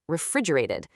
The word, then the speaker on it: refrigerated: We almost never say a hard T sound there. It softens and turns into more of a D sound. So it sounds like refrigerated.